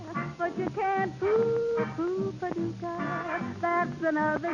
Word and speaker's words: Paducah: If you want to, you can rhyme it with bazooka. But you can't poo Paducah. That's another name for paradise. Paducah, Paducah.